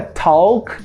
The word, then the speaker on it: talk: Não é talk com L. Esse L vai desaparecer. A gente vai usar o som de O. Então, a gente fala talk.